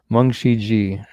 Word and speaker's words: Mung Shi Ji: Mun Shi Ji. Okay, Mung Shi Ji is how it's pronounced. Thank you for clearing that up, Nikki.